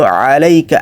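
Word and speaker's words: عَلَيْكَ: এইখানে এই যে 2 নাম্বার যে ওয়ার্ডটা আছে আলাইকা, আলাইকা হচ্ছে আইন দিয়ে। আইনের উচ্চারণ গলার ভেতর থেকে করতে হবে, মুখ দিয়ে করা যাবে না।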